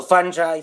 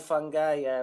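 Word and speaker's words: fungi: or something like that so funy fun guy whichever you want we'll just let them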